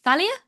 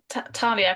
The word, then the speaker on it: Talia: Um, and I will um put my hand on uh Thalia's Thalia Talia. Thalia uh Talia cuz it when you say it right, it's like Talia fortune. Talia of Fortune.